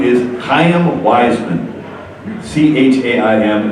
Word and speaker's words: Chaim: C-H-A-I-M, it's pronounced Chaim, it's got that little throat sound.